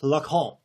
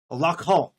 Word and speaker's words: Lacan: Just real quick, it's Lacan. Lacan. I get it's French, and it doesn't sound like it's pronounced, but come on. Come on, text-to-speech.